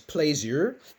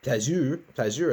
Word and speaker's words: plaisir: One is plaisir. Plaisir, that's the French word. I had French a long time ago. I hope I'm getting it close. Plaisir, I think is how it's said.